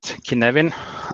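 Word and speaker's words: Cynefin: And Kinevin, I'm not here to talk to you about Welsh pronunciation, but I think Kinevin is how you pronounce it correctly.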